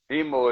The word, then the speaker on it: Imo: Imo is for Swahili. That's why it's spelled I-M-O, but it's pronounced E-M-O because it's Swahili. The I sound like an E and the E sound like an I.